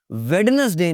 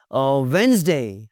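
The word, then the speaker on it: Wednesday: वेडनेसडे नहीं जी, बात हुई थी, डी साइलेंट है यहाँ पे। वेंसडे, हैंडसम नहीं होता, आज बड़े हैंडसम लग रहे हो, आज तो बड़े हैंडसम लग रहे हो।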